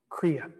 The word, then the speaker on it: Kriya: On a daily basis, treat your body to some stretching, some breathing, and what we call Kriya. Write this down. The word is spelled K-R-I-Y-A.